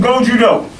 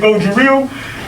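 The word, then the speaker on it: Gōjū-ryū: It comes from Go-Judo. Okay? Some people pronounce it Go-Juryu.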